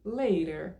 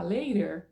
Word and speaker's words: later: Se não quer falar later, você pode pronunciar later, porque a palavra se escreve com T, soletrando L-A-T-E, e aí para comparar, mais tarde, eu coloquei o R, tá?